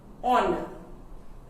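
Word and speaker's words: honour: But how do we pronounce it? Honor. O sound. Okay? So it's a vowel sound.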